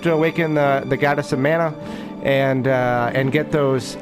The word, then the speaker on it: Mana: So sometimes I'll say Mana because that's how I used to say it as a kid. And, you know, all the way up until just recently when I realized it's pronounced Mana.